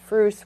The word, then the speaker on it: Bruce: brand that would stretch the madeup word Bruce which we have a a moose character rhymes with moose that's where it comes